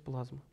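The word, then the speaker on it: πλάσμα: здание и даётся здесь, значит, его греческий перевод, оригинал, смысловой, причём оригинал, не просто, да, перевод плазма или плазма читается плазма.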